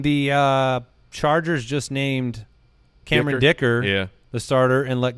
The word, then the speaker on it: Dicker: I mean, with a name like Dicker, you knew he was going to win yeah. the job. You just Just make him a starter. That? Rhymes with kicker, okay.